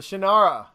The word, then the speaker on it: Shannara: The Shannara, that's how you say it.